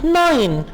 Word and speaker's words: Nein: Nein. Nein का मतलब है नहीं. EI को आप I की तरह प्रोनाउंस करेंगे.